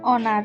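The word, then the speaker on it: honor: এইচ টা নীরব রয়েছে এন অনার উচ্চারণ অনার এইচ টা নীরব রয়েছে যেসব সংক্ষিপ্ত রূপ উচ্চারণে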